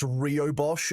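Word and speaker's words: rooibos: I think it's pronounced Rio Bosch, actually.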